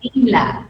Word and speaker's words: Neela: pronuncia Nila, pero Nela.